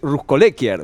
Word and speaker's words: Ruskolekier: tengo que hacer es corregir el modo de pronunciar tu apellido me acaban de corregir es russ collecker verdad sí de las dos